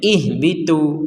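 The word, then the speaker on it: اهبطوا: ini cara bacanya Bagaimana ini cara bacanya ihbitu lah Kenapa dibaca ihbitu kan tidak ada harakat kasrah ya inilah dalam bahasa Arab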